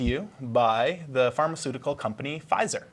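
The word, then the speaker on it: Pfizer: by the pharmaceutical company fizer is that how you say it anyway a PE silent it looks like well if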